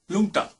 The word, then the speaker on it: Rlungta: Lungta. Just spell it. Spell it. RLUNGTA. There's an R in there and it should just not be there because it's just useless.